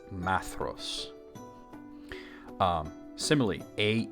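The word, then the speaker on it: Maedhros: not Maya it's not Maya it's Ma actually not ma it's ma like it rhymes with cat hat ma now then we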